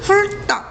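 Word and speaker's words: 훑다: 1번은 여기 어간 리을 뒤랑 연결을 해서 같이 설명을 해야 되는데, 훌다라고 하는 단어는 훌딱 이렇게 발음이 나거든.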